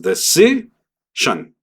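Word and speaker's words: decision: sus letras, mientras que en inglés es de si shan. Y este último fonema, a pesar de ser cuatro letras, solamente va a ser sh y ni siquiera sh.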